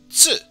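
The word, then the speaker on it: つ: which of course you pronounce it as TS for ts and OO to make a oo, so ts. And the T is very soft, almost like in the word tsunami, which of course it uses ts in its name.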